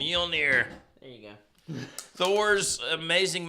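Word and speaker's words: Mjölnir: How do you The pronounce it? Mjolnir.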